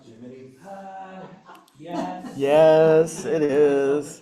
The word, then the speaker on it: Gemini: Is it pronounced Jiminy?